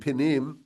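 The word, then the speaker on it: פנים: It's not exactly the same word, panim and pinim, but it's spelled the same way. It's just slightly different vowels.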